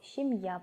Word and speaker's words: семья: люди женятся усыпал ящику семья переводится так же как и на русском семья но ударение падает на последний слог семья получается семье есть мама